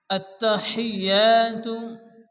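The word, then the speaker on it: التحيات: চলুন শুরু করা যাক আত্তাহিয়াতু আত্তাহিয়াতু এখানে তার উপরে তাসদিদ এবং ইয়ের উপরে তাসদিদ যে অক্ষরের উপরে তাসদিদ আছে সে অক্ষরটিকে দুবার উচ্চারণ করে পড়তে হয় প্রথমত ডানদিকে অক্ষর মিলিয়ে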